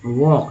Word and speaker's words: walk: अभी देखिए वॉक, WALK, क्या बोला था, वॉक, एल गायब हो गया।